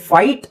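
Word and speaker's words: fight: silent ಅಂತ ಯಾರು ಹೇಳಿಕೊಟ್ಟಿಲ್ಲ ಬಟ್ ಇದು ಫೈಟ್ ಅಂತ ಬರೆದಾಗ ಜಿಎಚ್ ಉಚ್ಚಾರಣೆ ಮಾಡೋಹಾಗಿಲ್ಲ ಅಂತನು ಗೊತ್ತಿರಲಿಲ್ಲ ಫೈಟ್ ಬರೀತಿದ್ರು ಟೀಚರ್ ಬೋರ್ಡ್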